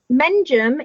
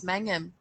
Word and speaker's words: Mengham: Menjum is a place name. It is a place on Hailing Island where I come from. See, I would have pronounced that as Mengham. Menjum.